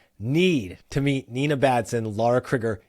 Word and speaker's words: Lara Crigger: Lara Crigger, yes, that's how you say her name.